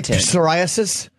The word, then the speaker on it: psoriasis: Do you say psoriasis? That is a silent P.